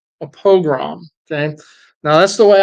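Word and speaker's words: pogrom: different ways I it's it sounds a lot like program but it's not it's a different word Al together it's a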